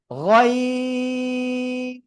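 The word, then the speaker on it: غين: গয়িন। গলার শেষ ভাগ থেকে 3 আলিফ টানে উচ্চারণ করতে হবে। গয়িন।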